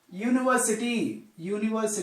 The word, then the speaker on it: university: But we have to take only the pronunciation, not the vowel letters, only pronunciation. University, while pronouncing, we are pronouncing the like this, university. Like this, university, U. So here we are pronouncing the Y sound. Sound is Y. Y sound comes. Y is a consonant.